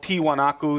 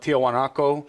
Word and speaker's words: Tiwanaku: probably confuses people because the whole site is called tiwanaku that's the native word for it but this the Spanish the Spanish pronunciation of that was more like Tiahuanaco so Tiahuanaco became the